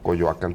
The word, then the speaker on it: Coyoacán: Nadie va a decir nunca Chapultepec, eso sí podemos tener la seguridad. Pero sí era así la pronunciación original. Eran palabras graves todas en el náhuatl, sí. Coyoacán, Teotihuacán, sí.